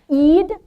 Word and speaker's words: Eid: Eid in Arabic. Ei. Sometimes you'll say it like an apostrophe ei because it's an in Arabic. That word is that letter is in. And so you say at the very back of your throat.